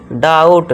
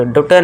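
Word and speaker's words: doubt: है इसे क्या पढ़ेंगे डाउट ड्यूटे नहीं यहां बी साइलेंट है डाउट और इसे यहां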